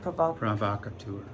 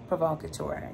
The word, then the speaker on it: Provocateur: Garter belts, garters, he especially likes this one store agent, how do you pronounce it? Provocateur. Provocateur, yes.